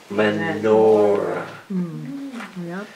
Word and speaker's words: menorah: Now, what really lights up the church is the continual menorah.